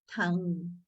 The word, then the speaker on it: tongue: Tongue. Ah very good. Do not say Tanga.